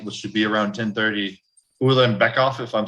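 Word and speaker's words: Ulanbekov: And the very first fight, which should be around 10:30, Ulan Bekoff, if I'm saying that right, Joe.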